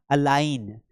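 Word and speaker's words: align: अब यहां पर देखिए जी इज साइलेंट बिफोर एन। अब एन के पहले अगर जी आएगा तो हमने यहाँ पे एन रखा, इसके पहले अगर जी आ रहा है तो हमें साउंड नहीं करना है।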